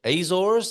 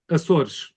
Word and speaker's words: Açores: of moving to the, however you say it, Azores, as a lot of people in America say, or the Azores if you're British, all those different ways of pronouncing it.